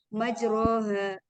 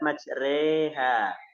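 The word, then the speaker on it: مجراها: Majroha. Bacanya gimana? Majroha. Nah, ini bacaan imalah, itu bacaannya adalah rada miring. Jadi tidak majro, tidak majri, tapi majreha.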